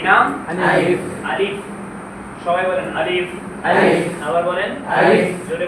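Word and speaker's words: ألف: আলিফ বলার সাথে সাথে মুখ থেকে বাতাস বের হতে হবে। যদি বাতাস বের হয় তাহলে আপনার আলিফ উচ্চারণ হয়েছে, আর যদি বাতাস বের না হয় তার মানে উচ্চারণ হয়নি।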